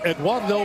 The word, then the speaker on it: Eduardo: Can you roll your R's? Let me try. Eduardo Perez. Nice, even though you don't have to roll it on the Perez, but I like that you can.